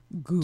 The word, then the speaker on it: ghoul: Ghoul. Tangent. And I then got the it. ghoul thing, because How do you spell ghoul? Ghoul, just like it sounds. An H. The H is silent.